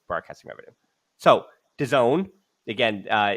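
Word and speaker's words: DAZN: it's broadcasting Revenue so the Zone again uh it's d-a-z-n that's what we're talking about but it's pronounced the Zone they have acquired the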